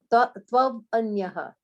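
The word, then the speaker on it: त्वन्यः: It's not tav, it's twa. Oh, Twa. Tvanyah. Tvanyah. No, you don't have to break it up. Tvanyah, that's it.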